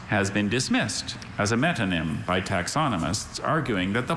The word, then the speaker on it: metonym: Thalarctos has been dismissed as a metonym by taxonomists, arguing that the polar bear belongs rather to the genus Ursus.